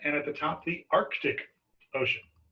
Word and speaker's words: Arctic: And of course, the Indian Ocean, and at the top, the Arctic Ocean. Notice it's Arctic, not Arctic. You want to make sure you add that C in there if you need to know how to spell it.